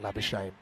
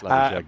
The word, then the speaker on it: Labuschagne: Nems Magazine, a bit like Labuschagne, that's not really how it's said. It's Labuschagne, isn't probably my favourite